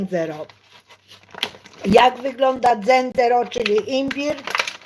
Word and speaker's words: zenzero: uczy włoskiego dzero dzero Nie mówi się dzero tak z akcentem polskim tylko się mówi dzero Jak wygląda dzero czyli